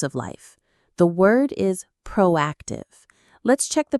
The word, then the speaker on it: proactive: The word is proactive. Let's check the pronunciation. Three syllables. Proactive. Again. Proactive. The stress is on AC.